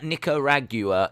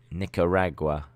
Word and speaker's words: Nicaragua: archery as it's not streaming anywhere no uh nicaragua is pronounced nick uh nico ra nicaragua nicaragua that's how you pronounce it nicaragua i was pronouncing it nicaragua nicaragua nicaragua nicaragua